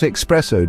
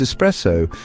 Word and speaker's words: espresso: beverage with a mispronunciation it's not espresso Darlings it's espresso that extra X is about as welcome as a soggy biscuit imagine strolling into your